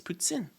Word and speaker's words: poutine: It's like when everyone says poutine. That's not how you say it. Okay, it's poutine. Okay, it's French.